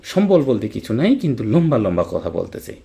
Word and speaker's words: লম্বা: কিন্তু লম্বা লম্বা কথা বলতেছে। এই যে ম এর সাথে ব থাকার কারণে বফলা উচ্চারিত হলো।